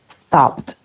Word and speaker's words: stopped: Entonces pronunciamos ed con T. Stopped, stopped.